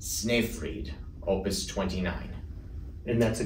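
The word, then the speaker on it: Snöfrid: past September was his choral Masterpiece and poem pronounced sniff freed opus 29.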